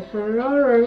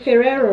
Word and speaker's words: Ferrero: they can cling easily whoops okay so the ferraro ferrero rocher is down i don't know why i'm having difficulty pronouncing ferrero okay so yeah basically that's it